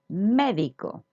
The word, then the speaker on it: médico: So as you see, this symbol on top of the E is an accent, and it means that the stress of the word goes there. So we're going to try to stress that syllable.